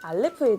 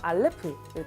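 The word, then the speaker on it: אלף: 알레프는 에 발음으로 A랑 발음이 유사하다고 생각하시면 되고 위치에 따라 묵음으로 발음이 되기도 합니다. 우리나라 한글의 이응과 비슷한 원리라고 생각하시면 됩니다. 이 히브리어 알파벳들은 그림을 따서 만든 상형 문자입니다.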